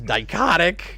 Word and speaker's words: Dichotic: the next one is dicotic rhymes with psychotic which is how I'm